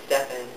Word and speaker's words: Stefan: So when I say, hey, I'm Stefan, they say, oh, hi, Stephanie. I'm like, no, it's Stefan, just Stefan.